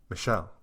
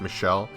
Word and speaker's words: Michel: of you guys said it was still technically pronounced Michelle but just for simplicity's sake I'm going to say Michael so for the